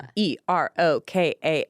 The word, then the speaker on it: Erokan: Erokan. It's Wait. Turkish. It's Turkish. You would never say Erican. You would say Wow. like Irakan or Yeah, Irokan.